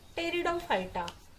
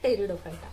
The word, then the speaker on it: Pteridophyta: Second is Bryophyta, and third one is Pteridophyta. P is silent. Phyta means about plants. Phyta, plants. Thallophyta, Bryophyta and Pteridophyta.